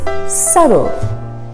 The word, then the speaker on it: subtle: We have another silent letter in this one. It's subtle. Subtle. We don't say subtle, it's subtle.